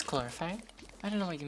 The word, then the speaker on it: chlorophyte: It doesn't say chlorophyte? Does it not? No, chlorophyte. It says chlorophyte. I don't know what you mean. I don't know what you're on about. Because PH is pronounced F, basically.